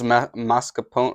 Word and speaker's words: mascarpone: That's mascarpone, right?